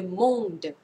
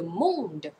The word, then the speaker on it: monde: ง อ ง น ะ ค ะ le monde le monde น ะ ค ะ ไ ม่